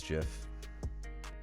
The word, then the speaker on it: GIF: It is Jiff. It's that soft G. It's that peanut butter.